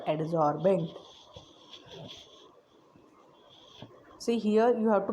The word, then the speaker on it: adsorbent: surface of which adsorption takes place is called adsorbent. See here you have to pronounce it properly. It is adsorbent.